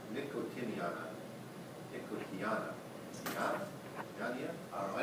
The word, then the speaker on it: Nicotiana: Officially pronounced Nicotiana, but if you want to say Nicotiniana, Nicotiana, Yania?